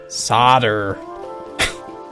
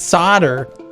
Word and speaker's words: solder: our country decided that there's an L in there but we're not going to pronounce it we're going to call it solder which just makes you